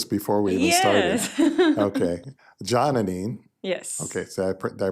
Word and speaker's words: Janani: Janani. Yes. Okay, so did I pronounce it correctly?